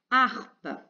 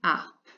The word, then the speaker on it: harpe: musique qui s'appelle une harpe art et comme tu le voyais revoir une lettre qui ne s'entend pas et elle sera au début donc on aura 1 h muet au début une harpe là on a un